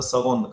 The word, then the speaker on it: second: But if there are only two, then we'll say le second garçon. Now look at this, the way this sound sound is being pronounced. Normally the sound, the written letter say never represents g, but here what happens